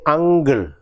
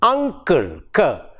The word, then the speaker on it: uncle: Say, for example, Malayali speakers of English, for the word UNCLE, we say ungle, ungle, correct? Ungle. Actually, the word should be pronounced as uncle, uncle.